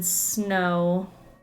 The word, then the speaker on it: snow: And then snow, the W. Because you would just need the O.